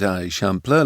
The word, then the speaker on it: Eixample: "That's the Eixample," he explained, pronouncing it Eixample like a local might.